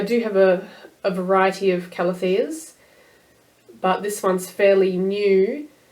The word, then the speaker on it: Calathea: I say Calathea, but I've heard Calathea, even though the E is in the wrong spot for me, so it could be Calathea.